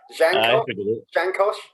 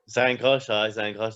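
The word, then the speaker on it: Zhankosh: Jankosh? Zankosh, that's it.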